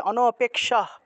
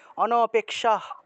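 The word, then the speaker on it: অনপেক্ষঃ: সেই হ টা পূর্ণ উচ্চারণ হবে না সেটাকে অর্ধেক উচ্চারণ করতে হবে তাহলে অনপেক্ষা অনপেক্ষা ঠিক আছে আর এটা হলো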